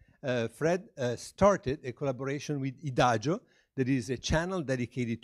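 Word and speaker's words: IDAGIO: started a collaboration with idajo that is a channel dedicated to musica and it's like Adagio but spelled with the final or the I at the beginning instead of an A so and you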